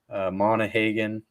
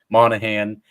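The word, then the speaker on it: Monaghan: side of things like Tom monah Haagen I don't think I pronounced his last name correctly Monahan yeah Tom manahan yeah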